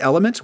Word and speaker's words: LMNT: sponsor of this episode, Element, which is spelled L-M-N-T.